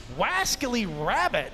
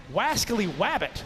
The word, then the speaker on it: Wascally Wabbit: Wascally Rabbit is going up. Sorry, I added a hard pronunciation there. Wascally Wabbit. There's no R in the second.